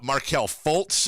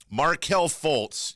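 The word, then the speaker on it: Markelle Fultz: we'll talk about that marquel Foltz and Kyle will go to break with this you almost got the pronunciation right marquel Fultz you were so close he was diagnosed with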